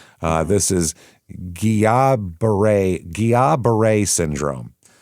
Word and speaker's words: Guillain-Barré: This is Guillain-Barré syndrome. It's spelled different. It's spelled Guillain-Barré accent. So that's how that's French. I guess that's why it's Guillain, because that's the like pronunciation of it.